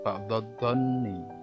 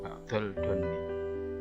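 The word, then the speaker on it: بَعْدَ الظَّنِّ: Yang tadi salah ucap saya. Dha ya. Ba'dod-donni, tidak ba'dol-donni.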